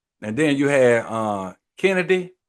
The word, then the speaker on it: Kennedy: then you had uh Kennedy is it Kennedy or chennedy no it's Kennedy Carter okay Kennedy Carter from the sky